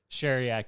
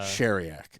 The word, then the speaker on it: Sheryak: Sheryak. It's Sheryak. Yeah. Okay. Cher, the singer. Yes. The letter E and yak. Okay.